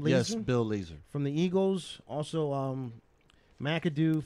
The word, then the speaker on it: Bill Lazor: Bill Lazor, is that how you pronounce his name? Lazor? Yes, Bill Lazor.